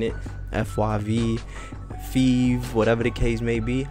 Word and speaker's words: FYV: First and foremost, my name is Five. The FYV is pronounced five, like the number five.